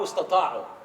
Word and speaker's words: استطاعوا: Anybody who doesn't speak Arabic and he doesn't know that word, I'll guarantee you say it wrong. Because it's hard. Sta'u, istata'u.